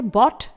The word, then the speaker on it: bought: इसमें भी लास्ट में GHT भले आया हुआ है लेकिन GH ही केवल साइलेंट रहेगा, T को यहां प्रोनाउंस किया जाएगा। इसके बाद है बॉट, BOUGHT।